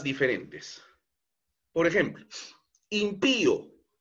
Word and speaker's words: impío: Por ejemplo, impío. Esta palabra lleva tilde en la i porque es una palabra aguda. Pío, impío lleva la mayor entonación de voz en la última sílaba, pío.